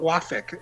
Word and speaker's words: Wafik: mispronouncing my name right but wafik is the way i prefer it okay i think uh